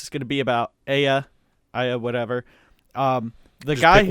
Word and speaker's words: Aya: Once Aya gets a look.